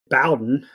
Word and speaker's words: Bowden: pretty bad dialogue between detective Bowden some may pronounce it Bowen no idea if he's